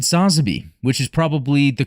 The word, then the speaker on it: Sazabi: they did with the new Gundam and the Sazabi, right? Yeah, and also you said Sazabi, which is probably the correct pronunciation.